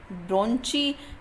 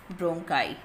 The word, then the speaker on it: bronchi: ब्रोंची general word है, वैसे सही प्रोनाउंसिएशन क्या है इसकी, ब्रोंकाई।